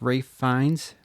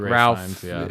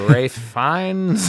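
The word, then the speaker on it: Ralph Fiennes: You were correct in how to pronounce Rafe Fines. You were we said like Ralph, but you you're like actually fines or Rafe Fines.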